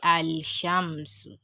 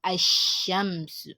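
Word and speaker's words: الشمس: sun letter right so you can see that i didn't say al-shams but i sham so you have to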